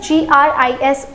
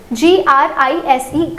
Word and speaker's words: gris: So it is G-R-I-S gris. It is G-R-I-S-E gris. The pronunciation will again change here.